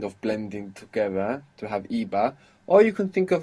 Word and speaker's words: iba: In the past it's spelled with a B, I-B-A, iba, where in the present it's spelled with a V, V-A. But as we know, they are very similar sounding.